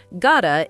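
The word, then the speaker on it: gotta: Gota is got to squished together.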